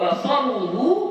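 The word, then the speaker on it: بصرُه: Wa basaruhu bi raf'ir ra'i, fa'ilu syaqqa. Dan basaru, ya bacanya basaru bi raf'ir ra'i, dengan merafa'kan huruf ra.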